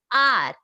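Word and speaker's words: hour: यहाँ पर H silent है और मैं इसे प्रोनाउंस क्या कर रही हूँ, आर, ओके, एन आर एगो।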